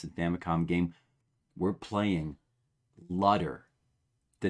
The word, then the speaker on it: Lutter: Legionary Shark, how do you feel about Lutter? Rhymes with butter.